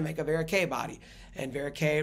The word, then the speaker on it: Verocay: a varicay body and Vera K rhymes with a so that's how I